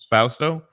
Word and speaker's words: Fausto: I feel like you're saying his name wrong. How would you say it? Fausto.